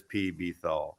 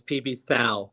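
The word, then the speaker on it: PBTHAL: vinyl archivist welcome it's actually very famous as P Bethal the correct pronunciation is PB foul by the way so there you go Nazi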